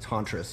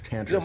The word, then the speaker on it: Tantris: we're in the um tantress which is not pronounced tantress it's tantress Guru told me U who Sharon and David